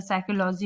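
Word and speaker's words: psychology: साइकोलॉजी में भी देखिए पी साइलेंट है, ठीक है।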